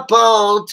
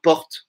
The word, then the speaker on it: porte: Alors, aqui ela não pronuncia o E, né? Porque não bate, né? Então fala normal, porte.